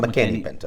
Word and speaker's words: McKinney-Vento: Am I McKinney-Vento. McKinney-Vento. I don't want to mispronounce.